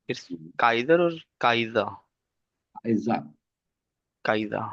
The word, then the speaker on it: Kaiser: Kaiser. काइजा Kaiser. Because you said that are would be silent, तो मैं उस लिहाज से बस बिल्कुल.